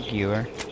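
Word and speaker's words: Gewehr: The Jewer 95 is way better. I'm saying that wrong, by the way, I know. Like Gewer or something like that, and I can't say it right. Yeah, it's a Gewer.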